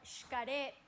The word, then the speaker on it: Xcaret: when the word starts with an X, especially in the Caribbean, you travel down there, you're going to see, for example, it says shelha or shkaret. So they pronounce the X as sh.